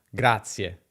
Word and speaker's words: Grazie: Grazie, con una Z sola, ma pronunciata doppia.